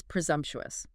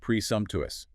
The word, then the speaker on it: presumptuous: Next is presumptuous. P R E S U M P T U S. Four syllables. Presumptuous. Stress on the second syllable there.